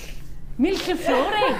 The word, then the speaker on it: millefiori: It's pronounced. Millefiori. Millefiori.